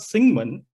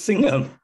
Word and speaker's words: Singham: It's not Singman, it's Singham.